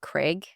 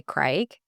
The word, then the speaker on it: Craig: And for some reason, Craig, just a little note, I want to say that Americans say Craig, but in New Zealand we say Craig.